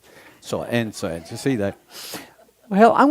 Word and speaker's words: Enzo: I also like ENZO because it rhymes with handsome. So ENZO, you see that?